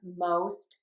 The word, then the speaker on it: most: Most people would think that it is pronounced with this ah, and we do have that in very common words like lost and cost, but you can have the exceptions and you can have the long O in moʊst, hoʊst, poʊst, and goʊst.